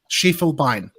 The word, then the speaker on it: Schiefelbein: pronounce your last name it's three sounds she full vine schiefelbein i my apologies i'm